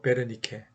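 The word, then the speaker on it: Wernicke: 언어는 듣고 말하고 말하고 듣고 듣는 부분은 우리가 귀에 그 윗부분 그 좌뇌 쪽으로 생각하고 베르니케라고 뭐 W를 쓰지만 독일식 발음으로 베르니케 브로카는 이제 좀 프랑스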